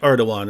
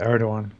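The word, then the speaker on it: Erdoğan: asked your position on it's spelled Igan but it's like erdogan right something like that yeah yeah yeah yeah erdogan wait hang on hang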